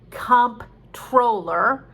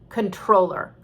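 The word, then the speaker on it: comptroller: word that looks like comp troller because it's spelled c-o-m-p troller but it's actually pronounced controller it's like an accountant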